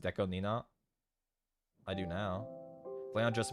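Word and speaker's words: DECO*27: Do you know Deco 27 is pronounced Deco Nina?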